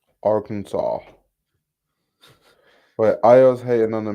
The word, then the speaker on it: Arkansas: you're not going okay is it pronounced R Kansas or ar or are those two different places how how do how do we get that pronunciation how does what happened there Arkansas Arkansas wait I's hating on